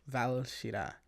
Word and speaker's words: Valshira: Volshira, or it's like technically pronounced, you roll the R, so Volshira. Not Vol. Valshira. Valshira. Valshira.